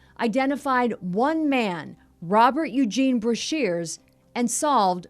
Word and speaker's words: Brashers: I would later learn from his daughter Deborah that it's pronounced Brashers, though it will continue to be mispronounced for years to come.